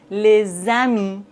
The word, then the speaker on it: les amis: Par exemple, les amis, des enfants.